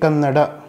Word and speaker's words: Kannada: We all know that it is 'Kannada' and not 'Kannad' despite that we see a lot of North Indians pronouncing it as Kannad instead of Kannada.